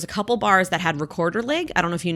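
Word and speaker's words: Rekorderlig: No, it's like it's a Swedish cider, or apparently in Sweden they call it recorder leg. Apparently that's how you pronounce it. I don't really know, but whatever. We anglicize it, and it's a recorder leg.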